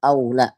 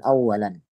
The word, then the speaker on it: أَوْ لَا: Ini bacanya aula, ya, bukan awalan.